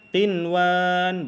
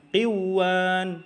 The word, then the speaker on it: قنوان: Ya, dibacanya tetap qinwan, bukan qiwan. Nah, kalau qiwan itu salah cara bacanya.